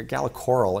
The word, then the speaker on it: Gala Coral: and more people are using Splunk uh uh Gala Coral is a uh Gala Coral is actually how they pronounce it um is a uh betting Service